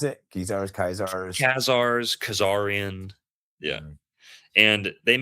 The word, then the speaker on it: Khazars: How do you pronounce it? Khazars.